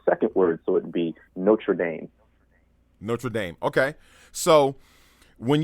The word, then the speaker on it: Notre Dame: enunciation of the second word so it'd be Notre Dame Notre Dame okay so when you talk about